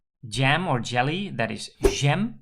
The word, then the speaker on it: jam: or jelly that is Gem so we use the French pronunciation and if you have